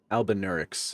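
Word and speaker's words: Albinauric: The thick coagulated blood of the albinarix. That's how you pronounce it, right? Mm-hmm. Albinarix. Albinurix is usually how it's pronounced.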